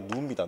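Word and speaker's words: gnu: 이렇게 해서 이거 발음 안 됩니다. 이게 누입니다, 누.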